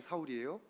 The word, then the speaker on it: 사울: 하나님을 섬긴다고 싸울 때죠 사울이란 이름은 히브리적인 발음에서 사울이에요 바울이라는 것은 헬라적인 발음으로 바울이에요 그래서 예수님 믿은 다음에